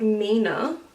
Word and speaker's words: 3ina: discovered this brand yeah it's called Nina not three inna or something else called Nina I have